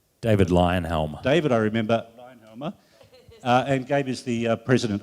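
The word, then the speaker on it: Leyonhjelm: They have a senator whose name I can never pronounce. Lionhelm. Thank you for saying that, Dave. David Lionhelm. David, I remember. Lionhelmer.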